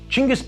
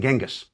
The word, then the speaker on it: Chinggis: Chinggis, by the way, is the preferred way of pronouncing the great Khan's name by Mongol specialists today. It is a more accurate rendering of his written name than Genghis.